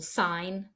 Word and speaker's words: sign: n gome not then at the end end of a word for example sign campaign design the G is again not pronounced so you can just